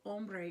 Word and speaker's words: hombre: we have hombre hombre remember we did not pronounce h's in spanish so ombre is a man el hombre